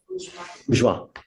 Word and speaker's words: Bourgeois: And then I also was appointed Miss, how do you pronounce it? Bourgeois.